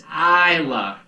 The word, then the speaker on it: Isla: It's not Ela, it's Isla.